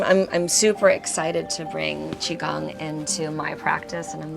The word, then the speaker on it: qigong: Don't try to sound it out. It's the hardest part of Qigong is just learning how to say it. It's not Qigao, it's Qigong.